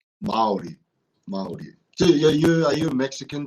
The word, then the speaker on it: Māori: Am I rolling the R? Am I doing that? Yes, we do the exact same thing, the same pronunciation, the same as Japanese as well. The vowels a, e, I, o, u, and the rolled r.